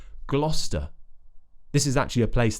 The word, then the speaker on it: Gloucester: to pronounce it is they think it might be like gloss but it's just GL GL Glo so we have another consonant cluster at the start GL GL GL like in England GL we know the St already so that's convenient Gloucester this is actually a